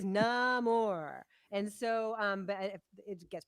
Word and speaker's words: Namor: I think that whole underwater section with Namor, don't call him Namor. He explains su nombre es sin amor, Right. right? He is Namor.